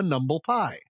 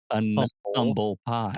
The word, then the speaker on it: humble pie: made of numbles NBL you would call it a numble pie thus dropping the n in pronunciation a numble pie n Umble pie pie exactly right and because Umble and humble sound so alike it was actually used